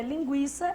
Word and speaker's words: linguiça: A verdade é que a linguiça, essa grafia antiga, se escreveria assim porque o U é pronunciado, não o contrário.